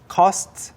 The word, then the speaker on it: costs: 더 큰 다른 장난감 하나가 필요한데 which costs 여기에서는 costs 아니고 costs 이든 씨가 이 부분 발음을 아주 명확하게 해주셨는데 costs 좀 어려워요.